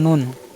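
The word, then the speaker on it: نون: এবার নুন হরফ উচ্চারণ স্থান নুন, হরফ উচ্চারণ স্থান জিহ্বার আগা ও সামনের উপরে মাড়ি সংলগ্ন তালুর সাথে লাগিয়ে উচ্চারণ করতে হবে।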